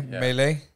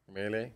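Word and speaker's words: Milei: How do you say M-I-L-E-I? Houston. M-I-L-E-I. Mele. Mele. Mele.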